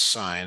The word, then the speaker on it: sine: It's sign. It's pronounced sign not not not anything else.